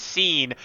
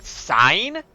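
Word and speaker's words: Sein: Like, for instance, I've been referring to our floating companion as Scene, but I have heard pronunciations of, like, Sign, which, actually, it is what I did used to call them a lot, until, you know, BJ pointed out why calling them Scene makes more sense, because Scene is supposed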